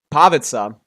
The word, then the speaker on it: Pavica: Uh, how do you pronounce your name? Pavitza. That's how you pronounce my name.